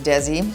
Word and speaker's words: Desi: I remember spelling my son's name. His name is Desi. So I would spell it D-E-Z-I. And then the teacher would spell it D-E-Z-E-D-I because that's what she thought I was saying. Switch sides. I'm like, no, Z, Z. You know, it's like decal and decal.